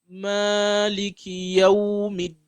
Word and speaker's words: Maliki Yawmiddin: I'm not pronouncing it. So the meme, make sure you give it the Madd al-Tabi'i, the 2 count pronunciation.